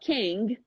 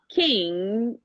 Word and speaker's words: king: It's not like Kang. It's not about king. It's actually king, exactly.